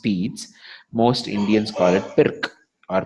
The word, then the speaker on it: Pirc: written pirc it's a French word so it's pronounced pedes most indian scarra pick our perk right but that's not what it is it's actually beats and if you don't want to move the